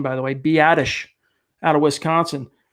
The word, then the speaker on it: Biadasz: I finally figured out how to pronounce that name, by the way, Biadasz out of Wisconsin.